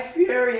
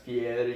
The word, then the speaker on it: Fieri: Oh, Guy Fieri, how you doing? It's pronounced Fieri. You gotta roll that R.